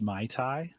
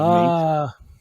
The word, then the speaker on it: MATE: Andrew wants us to know it's pronounced Mai Tai instead of mate.